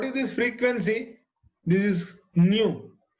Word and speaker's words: nu: This is nu. Nu is Nu. This is how it is pronounced.